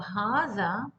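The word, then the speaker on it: هذا: And for hadha, as I have already explained, it's written with ha, the and alif, but there is no long vowel after the ha, but it's still pronounced at hadha, as if ha alif and the alif, as if there is a long vowel in between.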